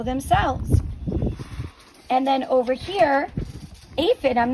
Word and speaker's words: aphid: How do you say aphid? It's like this, aphid. That pH digraph right there makes the F sound.